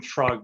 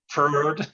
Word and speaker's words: Freud: I always call him Frog, but apparently it's the wrong pronunciation. Freud.